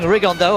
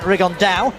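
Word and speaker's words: Rigondeaux: T's talked about fighting riondo or as he's correctly pronounced with the uh Spanish accent rigon da and two absolute Geniuses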